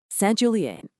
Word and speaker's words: Saint-Julien: Let's get the pronunciation right, because it's key. We've got Margaux, Saint-Julien, Pauillac, and Saint-Estèphe.